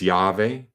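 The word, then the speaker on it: Yahweh: sometimes transliterated as Jehovah it's sometimes said as yve Jews are not supposed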